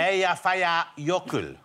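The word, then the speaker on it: Eyjafjallajökull: How do you think it should be pronounced, Jonathan? Eyjafjalla jökull.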